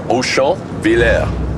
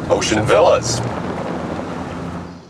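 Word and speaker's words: Auchonvillers: song yeah well actually the town's real name is OSHA Villa but of course the troops during World War One couldn't pronounce it properly so they nicknamed it ocean villas so my what a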